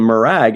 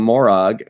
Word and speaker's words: Morag: And then Riker even changed the way he pronounced. At first, Riker called him Murag, and then later on, he called him Morag.